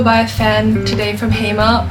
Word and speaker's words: Hema: I was gonna go buy a fan today from Hema, or as the French call it, Emma. Like they don't pronounce the H.